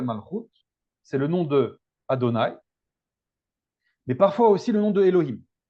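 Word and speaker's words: אדני: On ne prononce pas ces voyelles quand on lit le tétragramme. On dit Adonai. Donc Adonai, ça va être le nom révélé du tétragramme.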